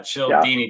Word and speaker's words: Cialdini: I picked up a book by Robert Cialdini, and I think that's how you pronounce his last name. And it's the psychology. Cialdini. There you go. Yeah, Cialdini.